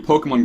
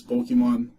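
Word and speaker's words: Pokémon: And for all you Pokemon Go fans out there, we have Pokemon Go hats in the store.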